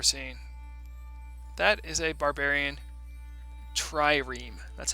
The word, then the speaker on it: trireme: That is a barbarian trireme. That's how you pronounce it, by the way, guys.